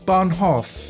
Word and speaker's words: Bahnhof: It's not really hoof. Bahnhof.